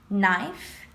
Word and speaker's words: knife: Letters that you don't pronounce. I'm going to read it for you once. Knot, like when I tie a knot. Knee, knife, knock, night.